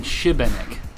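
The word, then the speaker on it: Šibenik: You know, the locals have kind of been saying Shibanik. Is it more of an sh sound?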